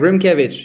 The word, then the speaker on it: Rimkiewicz: Perfect, Rimkiewicz.